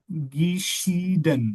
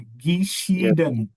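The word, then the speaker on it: geschieden: आ जाता है आपका गीशीडन जब भी आई ई आए तो हमने ई बोलना है गीशडन गशडन गिशडन है डवोर्स या ईस्ट गिशी लाइक इस तरह से अब गिशडन आपने नहीं बोलना कंजगेशन को ज़हन में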